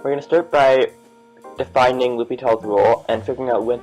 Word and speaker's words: L'Hôpital: video is we're going to start by defining lupital's rule and figuring out when to use it